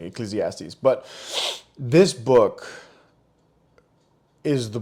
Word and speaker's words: Ecclesiastes: It's like I'll get it one day, and finally I feel like I think I pronounced it correctly, Ecclesiastes.